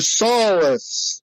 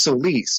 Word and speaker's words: Solis: And he would always pronounce my name, Mr. Solus. It's Solis, but I guess because he's from Illinois and he was raised in the cornfields that he can say it that way.